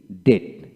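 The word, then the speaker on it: debt: এখন আসেন আমরা শিখবো ওয়ার্ড এর মধ্যে বা শেষের বিটি পাশাপাশি থাকলে বি এর উচ্চারণ হয় না যেমন ডি বিটি ডেট অর্থাৎ কি আপনার উচ্চারণ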